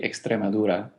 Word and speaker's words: Extremadura: it so badly in Spanish it would be extremadura we could say in English as radura if